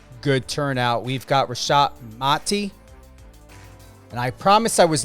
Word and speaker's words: Mati: It's very important to know how to pronunciate. And I get it. You know, sometimes you don't correct, but it's Mati.